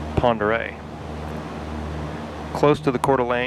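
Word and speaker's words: Pend Oreille: the lake and again that lake is pronounced Ponder close to the cter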